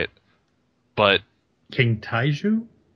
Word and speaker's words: Taijitu: So, but yeah, the snake, I'm not going to even try and say it, but King Taiju? It's Tajitu.